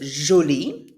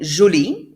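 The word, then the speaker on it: jolie: if you want to make it feminine julie it sounds the same way g-o-l-e you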